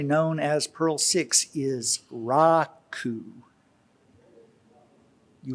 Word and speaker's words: Raku: as pearl six is raku you will often hear me say raku instead that doesn't mean you've been saying it wrong raiku is slightly more correct rakudo is the compiler